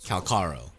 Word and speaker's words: Calcharo: characters in the game calaro okay okay calaro calaro go with whatever you want but just know that in Chinese Korean and Japanese the first two syllables are kaka do with that information